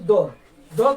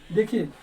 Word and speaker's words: the: अब आइए हम लोग द के बारे में जानते हैं। दोस्तों देखिए ये द के बारे में बता दें कि इसका उच्चारण भी जो है दो तरह से कभी द बोलते हैं तो कभी दी बोलते हैं।